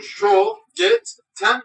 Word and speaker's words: Schogetten: çikolatam adı Almanca kelimesi Türkçemizdeki şey harfiyle telaffuz edilirken diğer harfler Türkçemiz harflerle tel ediliyor Biz de bunu Show Get ten veya tın olarak okuyor Evet fiyatı